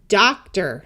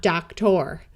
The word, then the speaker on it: doctor: We have doctor, not doctor.